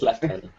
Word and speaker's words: Lieutenant: Are you American? No, but that's how you say it. It's Lieutenant.